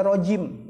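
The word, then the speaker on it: رجيم: salah dia ngetik makanya belajar bahasa Arab dibacanya rojim jauh banget Audzubillah himinas syaiton nirojim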